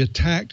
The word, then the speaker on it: ATT&CK: with a model called the attack framework. That's spelled ATT&CK. And this is a way